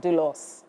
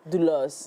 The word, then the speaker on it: doulos: So, you're not far from wrong if you said you couldn't because it's not English. It's it's a Greek word. So, um it is pronounced dulos. Dulos.